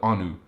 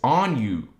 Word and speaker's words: Anu: spelled a in u people call it Anu it's actually if you want to be accurate it's on you and it was the